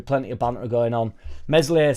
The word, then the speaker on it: Meslier: Meslier silent S at end as well, apparently.